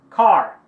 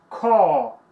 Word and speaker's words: car: Americano é mais car. Car. Carro. Porém, britânico, ele tem um som de... com esse símbolo aqui. e o R some. A maioria das palavras no som britânico, ou seja, o inglês da Europa, palavras que terminam com a letra R, não tem pronunciação. Eles não pronunciam o R.